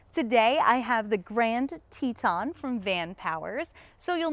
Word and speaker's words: Teton: van Powers Grand Teton I know it looks like it's spelled tetan but I actually watched the CES unveiling of this bike and the guy was like this is the Teton so that's what I'm